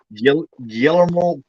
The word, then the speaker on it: Guillermo del Toro: I'm I'm just playing a movie without the Yeah, it has Guillermo del Toro with Guillermo me. Toro. He praises Fulci a lot. Guillermo del Toro. Guillermo del Toro. Yeah, it's actually pronounced Guillermo.